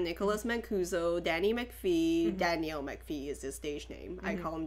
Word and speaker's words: McPhee: Mancuso Danny McPhee Danielle McPhee is the stationing I home Danny McPhee because it rhymes Adam Albert's who has